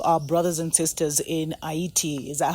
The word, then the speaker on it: Haiti: We just want to send our prayers, our solidarity, our revolutionary vibes to our brothers and sisters in Haiti. Is that how they pronounce it? Yeah, Haiti.